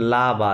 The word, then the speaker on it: là-bas: আচ্ছা দিন আপনি বলতেছেন লা বা তাই না লা বা হ্যাঁ এই লা এখানে একটা লাবা হাইফেন আছে লা বা দেয়ার লা বা মানে ওভার দেয়ার হ্যাঁ এটা বাস না বা বলতে হবে সাইলেন্ট Over লা there.